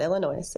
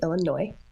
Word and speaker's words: Illinois: Box m in Illinois not Illinois Illinois s is silent a new lawsuit is